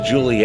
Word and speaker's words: Giulia: name of a car they call to Juli and it's spelled a little different from what most people would think however being it's Italian it's kind of expected now Quadrifoglio if we're